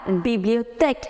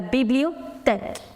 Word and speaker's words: bibliothèque: The letter H is silent. La bibliothèque. It's not tech. No, la bibliothèque.